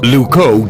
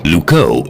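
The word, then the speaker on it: Loucaux: wrong now what's wrong Luco doesn't really rhyme with Bordeaux it's spelled completely differently really lucow is spelled l-o-u-c-a-u-x you can't write limericks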